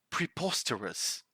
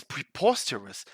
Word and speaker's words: preposterous: Mind the pronunciation of that final syllable.